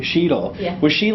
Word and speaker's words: Sheetal: Sheetal.